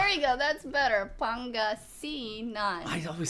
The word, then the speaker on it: Pangasinan: Like, I try my best to pronounce stuff correctly. Say Pangasinan. Pangasinan. No, nope. Pangasinan.